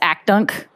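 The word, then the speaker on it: ACHDNC: there's a committee called we usually pronounce AK dunk the Advisory Committee on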